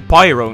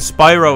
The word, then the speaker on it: Spyro: I go again how many times have I called him pyro now hikes and Spyro is all about getting his claws dirty it seems to be a pattern pattern with me that I started mispronouncing the the main character's name at some point like